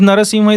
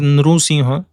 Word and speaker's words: Narasimha: So it is Narasimha is also fine. Sometimes it is written as Nrusimha. This is also fine. Nru and Nara are same. Nrusimha or Narasimha. Narasimha. This is fine. So there are different pronunciations.